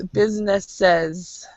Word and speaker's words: businesses: When there's an S, like this one, and then you add an E, another S to make it plural, it's actually, it goes businesses. Businesses. So it's businesses.